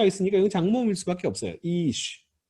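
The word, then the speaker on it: אִישׁ: 이슈라고 하면은 음절이 몇 개예요? 하나죠. 하나밖에 없어요. 그러니까 액센트가 여기밖에 없습니다.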